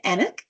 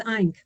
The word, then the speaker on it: Eink: Enick, or sorry, how do you pronounce that, your last name? It's Eink.